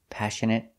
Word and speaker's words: passionate: is inappropriate for children so remember these words and how they're all pronounced with the e sound at the end passionate compassionate affectionate template pomegranate appropriate and inappropriate let's practice passionate are